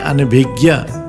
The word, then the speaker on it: अनभिज्ञ: भूलों को समझते हैं हिंदी में ज्ञ का उच्चारण ग आधा ग और य होता है ञ केवल संस्कृत के तत्सम शब्दों में प्रयोग किया जाता है निम्नलिखित उदाहरण से समझे जैसे अनभिज्ञ शुद्ध शब्द है अनभिज्ञ